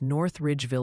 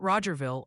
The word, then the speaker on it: North Ridgeville: Also, the pronunciation police are on patrol and wanted to gently remind you it's North Ridgeville, Ohio, not Rogerville, unless you're secretly trying to establish new municipalities on air.